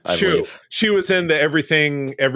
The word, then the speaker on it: Hsu: Real quick, a series starring, is it Stephanie Shu? Who? HSU. How do you pronounce that? You've seen her in other stuff. Shu.